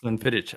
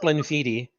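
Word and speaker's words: Glenfiddich: 15 years gleniti yeah no it's not Glen fittit I I learned something today as well it's pronounced gleniti yeah all right well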